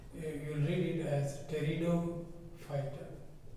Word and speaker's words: Pteridophyta: and the third group, the P is silent, P you don't pronounce it, you will read it as Pteridophyta.